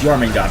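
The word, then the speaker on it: Jörmungandr: Okay, I mispronounced his name. It's Jormungand, but still.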